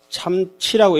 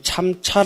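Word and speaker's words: 參差: 년이 참 그다음에 뭐죠 참치라고 읽으셔야 됩니다 이 참차 읽으시는 분은 계신데 요거는 차가 아니고 참치 참치입니다 참치 이거는 어긋날 치자고 합니다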